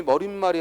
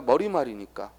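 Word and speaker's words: 머리말: 안지는 판단이 쉽죠 그런데 머리 말은 머리 말은 발음이 머린 말이 아니라 머리 말이니까 발음이 머리 말이니까 4시 옷을 표기 할 이유가 없다 이거죠 그렇죠 다음 또 눈이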